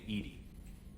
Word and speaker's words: EDI: a jar a jar why are you named Edie Ed is the phonetic pronunciation of Eed that is an acronym for